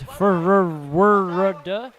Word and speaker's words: FRWRD: This production brought to you by FRWRD, pronounced in Czech as Forward. I really have a hard time pronouncing that one, so I just call forward.